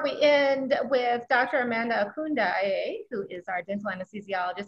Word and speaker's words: Okundaye: Well, as you said, my name is Dr. Amanda Okundaye, and you said it right.